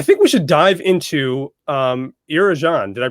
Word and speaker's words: Arjun: Well, I think we should dive into Arjun. Did I pronounce that right? Arjun.